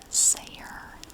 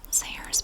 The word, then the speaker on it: Zayre: x next we are going to read about sayer c-a-y-r-e now that is spelled c as in zebra a-y-r was a